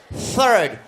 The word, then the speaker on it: third: d Alam mo third Okay third soft TH Third third Okay you have to articulate say it again use your articulators open your mouth open